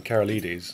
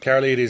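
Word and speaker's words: Karolides: what was his name kara ladies yes now i know how to pronounce it carol ladies has been shot dead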